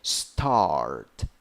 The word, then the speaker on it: start: 5 letters, 5 sounds, vowel A with 2 dots there. That is like ah. Pronunciation: start, start.